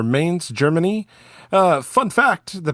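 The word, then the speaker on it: Mainz: metal band out of I believe it's pronounced mans or Mains Germany uh fun fact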